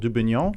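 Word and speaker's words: Dubugnon: So we're going Richard Dubignon for Richard the pronunciation? Dubignon.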